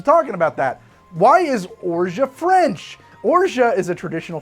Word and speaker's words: orgeat: Orgeat if you're French, Orgeat if you're an American. Interesting. Orgeat. Okay, well, let's get to talking about that. Why is Orgeat French?